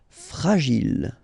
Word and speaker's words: fragile: Okay, final E not pronounced. And then when you get this G and I, J. Gilles. Fragile.